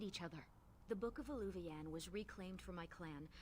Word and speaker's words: eluvian: heard other elves say the word and it's pronounced eluvian and then we have this